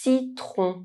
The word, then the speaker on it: citron: C is pronounced: Inside French words, C followed by E, I or Y, one of the soft vowels, is pronounced [s]. You can remember the soft vowels with the word “yeti”. puce chip citron lemon C followed by A,